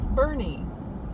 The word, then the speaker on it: Boerne: state park I thought I would show you Bernie and if you're not familiar with it's b